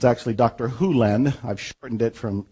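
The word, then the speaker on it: Hew Len: Hyu Lin. I've shortened it from E to Dr. Lin, but it's actually Dr. Hyu Lin, if you want to say his name correctly.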